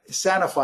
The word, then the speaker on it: Sanofi: The Parisian pharma giant Sanofi, I believe it's pronounced, SNY, got into the Biotech Cancer Treatment